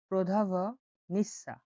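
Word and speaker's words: prodavnica: বলা হয় প্রদা প্রদা প্রদা ভ ভটা উচ্চারণ হবে প্রধাভ নিঃসা প্রধাভ নিঃসা প্রধাভ নিঃসা মানে হলো দোকান।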